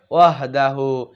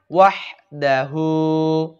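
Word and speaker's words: وَحْدَهُ: এখানে অনেক ভাই বলে ওয়াহদাহু, এটা বলার সাথে সাথে আপনার ঈমান নষ্ট হয়ে যাবে, নাউজুবিল্লাহ। এখানে বলবেন ওয়াহদাহু একসাথে।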